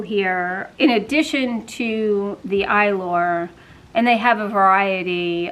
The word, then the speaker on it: Eylure: I always did really well with Eylure, which is, I don't know if you can see that, that's how you pronounce that.